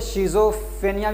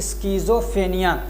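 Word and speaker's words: schizophrenia: इसको बहुत सारे लोग शिज़ोफ्रेनिया भी बोलते हैं, लेकिन असल में इसका प्रोनाउंसिएशन क्या है? स्किज़ोफ्रेनिया।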